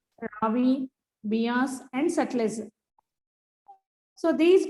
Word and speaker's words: Beas: So once again observe the pronunciation of these 5 names: Jhelum, Chenab, Ravi, Beas and Satluj.